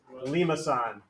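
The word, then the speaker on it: limaçon: When they're different, this is what's called a, if you want to try to pronounce it, Yeah. Limason. Limason. This is called a Limason. Lemiscon.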